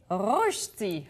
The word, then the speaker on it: Rösti: allemand parce qu'aujourd'hui ouis c'est un cours de prononciation pour moi on va faire des reti reti bravo ouais c'est en plein ça ça